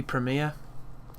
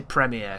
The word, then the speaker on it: Premiere: used a Doby Premiere I think that's how Americans say it premiere they make it sound so much more privileged than it is I say premere because I'm you know I'm a English person like that but it has this